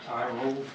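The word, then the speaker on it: Tyrol: is original 400 car t y r o l I guess that's how you pronounce it tie roll and you said these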